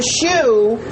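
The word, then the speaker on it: choux: component is a caramel okay so Chris the shoe how do you spell that uh shoe it's Pate so p-a-t-e and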